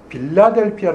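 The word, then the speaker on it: Philadelphia: 빌라델비아 교회의 얘기합니다 그러니 이제 이 빌라델비아 교회의 필라델피아 라는 것이 어떤 것인지 한번 살펴 보길 원합니다 우리말에는 빌라 델 표했지만 영어 발음은 힐라 될꺼예요 우리 바로 6주 있는 필라델피아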